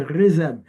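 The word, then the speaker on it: חסד: Et là, le mot hébreu, c'est rézed. Oui, je sais, c'est un H, là, mais ça se dit rézed.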